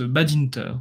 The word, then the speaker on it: Badinter: on parle roumain et en roumain il prononce Badinter donc je voilà comme dirait Chabal on est en France on parle français d'accord il a toutes